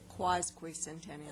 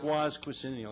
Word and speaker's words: quasquicentennial: Quasquicentennial. Quasquicentennial.